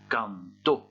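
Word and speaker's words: cantó: Par contre, ici, l'accent tonique, l'accento, n'est pas placé au bon endroit. Il faut donc indiquer à quel endroit on doit prononcer plus fort par un tilde ou un accent écrit. Et ça donne canto.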